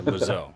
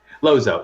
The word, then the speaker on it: Lozeau: Yeah, Lozeau. Okay. Lozeau. It's easier to go, imagine like it's L-O-Z-O, just Lozeau.